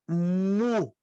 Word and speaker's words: mu: depois a próxima letra mu muito parecida com a letra m na maiúscula e parece um uinho pequeno na minúscula e a pronúncia de uma letra M como fosse da nosso alfabeto m a próxima é a